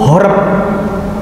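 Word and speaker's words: حرب: ini Bet atau b kalau bahasa Arabnya disamakan haroba ini sama bacanya haroba kalau tanpa niikut kalau dengan niikut horp orang menyebutnya horp Nabi Muhammad pergi menjauh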